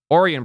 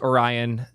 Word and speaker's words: Orion: Orion browser.